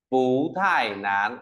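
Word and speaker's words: 不太难: nói thế nào nhở Phú thải nán đọc lại cho thầy này phú thải nán Tại sao phải đọc là Phú bởi vì thải Nó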